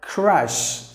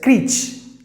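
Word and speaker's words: crèche: Like crush, like crush it. Now people usually say it as CLICHE. CLICHE, I'm going to put my baby in a CRECHE. No CRECHE, please don't say that. CRECHE. It's crush, crushed, place where babies are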